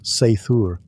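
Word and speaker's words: seiðr: Sometimes it relied on magic, specifically a mysterious practice called cider, pronounced seaur, which was part sorcery, part spiritual therapy, and part my ex won't return my runes.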